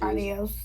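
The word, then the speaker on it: adiós: Now notice adios has an accent on the O. And also that D is going to be a little bit forward too. Push your tongue a little bit forward and say adios.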